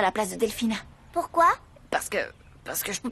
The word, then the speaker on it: Delfina: Oui, je veux bien, mais j'aimerais que vous me fassiez le plaisir de prononcer mon prénom correctement. C'est Delphina. Pourquoi? Qu'est-ce que j'ai dit, Fräulein Delfina?